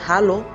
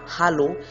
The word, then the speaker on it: Hallo: Tu peux dire Hallo, ich heiße, bonjour, je m'appelle, et prête bien attention au ha dans Hallo et dans heiße.